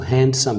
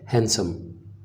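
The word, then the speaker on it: handsome: Students इसमें एक चीज़ याद रखनी है कि इसमें जो डी है वो साइलेंट है, इसको हैंडसम नहीं कहेंगे बल्कि ये वर्ड है हैंडसम।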